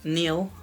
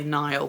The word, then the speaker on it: Neil: um yeah so from Neil I keep wanting to say Nile but I know it's not how that's spelled um yeah so like